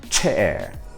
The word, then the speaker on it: chair: O CH em português tem som de sh, like chave, então é chave. Agora, vamos pensar na palavra cadeira em inglês? Como que se pronuncia? Chair, chair. Tá vendo que você tem uma explosão? E essa explosão ela tem que estar presente em todas as palavras, tá?